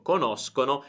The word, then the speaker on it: conoscono: Quindi ricorda la differenza di pronuncia: conosco, conoscono, e poi tutte le altre sono conosci, conosce, eccetera. Sk e sh.